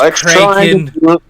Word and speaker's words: Kraken: at least the Kraken it's pronounced cren let let's try not